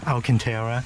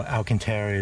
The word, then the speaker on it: Alcantara: So coming in, it's suede, or if you like the more cool sounding Alcantara, it's suede.